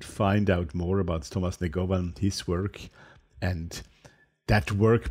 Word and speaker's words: Negovan: Negovan. I have to be careful not to pronounce it always in the European way.